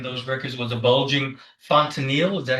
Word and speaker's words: fontanelle: Also noted in those records was a bulging fontanelle, is that how it's pronounced? Yes, bulging fontanelle.